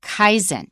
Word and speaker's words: Kaizen: is the notion of Kaizen k-a-i-z-e-n that's a Japanese pronunciation of a Chinese compound but the Japanese are